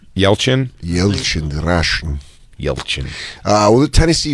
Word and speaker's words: Yelchin: Then maybe it's not Anton Yelton. Am I saying it right? Yelchin? Yelchin, Russian.